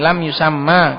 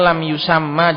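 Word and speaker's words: لم يسمَّ: Maka bacanya lam yusamma. Jangan lam yusam. Karena kalau sukun nanti di situ kumpul banyak sukun nanti. Makanya akhirnya difathah biar enggak ngumpul sukun banyak di situ.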